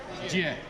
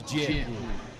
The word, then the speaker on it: Jie: Jie. It's one of those sounds that English doesn't do very well. It's Jie.